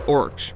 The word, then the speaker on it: orc: word for orc is orch the plural which would become merch later in his writings token preferred to spell it as orc to ensure the sea was pronounced as a hard k sound the origin of the